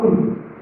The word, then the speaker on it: कूल: वैसे ही जैसे हम स्व और दीर्घ सुनते हैं, हम स्व का मतलब कुल, इसको आप बोलते हैं कुल, और एक होता है कूल, दोनों के बाद मीनिंग में भी काफी अंतर होता है।